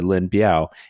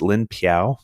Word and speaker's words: Lin Biao: And it's also can be pronounced Lin Piao. So if I get it wrong or you've heard both, I'm talking about the same guy. So I think the P is like more traditional, whereas if you like go for the B, that's more like modern Chinese. Like the communists prefer the B and Taiwan prefers the P.